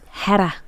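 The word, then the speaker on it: Héra: Hedda, which is hard to say, but it's spelled Hera.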